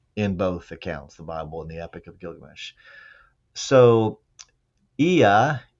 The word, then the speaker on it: Ea: So, Ea, E-A is how his name is spelled.